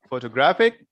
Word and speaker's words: photographic: photo graph photograph right so here we are we were putting a stress in graphic we are speaking louder this part is second syllable graphic okay and here we